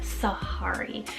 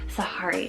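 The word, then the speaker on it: Sehari: Then we have Sahari, spelled S-E-H-A-R-I, Sahari. Now this just reminds me of like the jungle. It reminds me of the name Safari, but Sahari just has a little bit of that different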